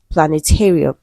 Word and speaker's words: planetarium: So most words ending with um a okay have the stressed on the syllable before real like aquarium. Okay. Solarium. Okay. So the syllables are usually before real.